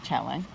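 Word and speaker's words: Chelan: want to go to Lake chellen no is that how you pronounce it chellen chellen okay while we're here each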